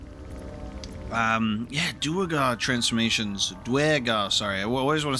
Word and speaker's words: Duergar: You see a frothing Duergar, axe drawn, crazed by bloodlust, bearing down on a young Myconid.